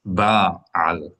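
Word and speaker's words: בעל: Ba'al. Tell me what it means and how many syllables is that? 2 syllables, and it means like a leader, Lord, It's like Lord, or God.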